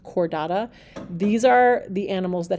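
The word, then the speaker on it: Chordata: group is the cordada that CH is pronounced like a k sound cordada these are the animals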